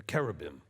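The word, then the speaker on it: cherubim: V sound it's not CH like cherub okay as Christianity would give us the cherubs okay there's no chch sound in Hebrew okay all right the the the letter is a C Sound a hard C or a k sound okay they're carabin all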